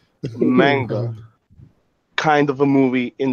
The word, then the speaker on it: manga: Magna. Am I saying it correctly? Manga.